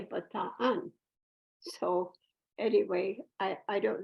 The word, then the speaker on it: Bataan: magazine called Bataan uh I used to say Bataan but I have a Philippine caregiver who said no you say Bataan so anyway I I